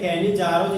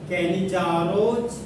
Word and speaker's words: Cannizzaro: तो आज हम लोग फुल एचडी में कैनी-जारोज रिएक्शन पढ़ेंगे जो एग्जाम का क्या है हॉट कल्चर। तो आज हम लोग फुल एचडी में कैनी-जारोज रिएक्शन पढ़ेंगे।